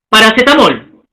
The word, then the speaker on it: paracetamol: Por ejemplo, paracetamol. ¿Cuántas sílabas? 5 sílabas, ¿no es cierto? Paracetamol. Bueno, ahí hay que corregir, no es aguda, es grave, ¿no? Es aguda, hay que resaltar en la mol, paracetamol, aguda.